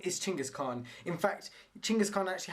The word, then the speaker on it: Chinggis Khan: So the Mongolians actually laugh at anyone else who pronounces it as and spells it as Genghis Khan. So it's actually Chinggis Khan.